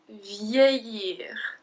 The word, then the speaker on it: vieillir: Vieillir. Vieillir. So do you remember double L? I don't say vieillir, I say vieillir. It's like a long E when you have a double L.